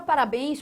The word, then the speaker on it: parabéns: A palavra parabéns possui a sua tonicidade aqui, ó, na última sílaba, bens. Ou seja, aqui você, de novo está trabalhando com uma oxítona.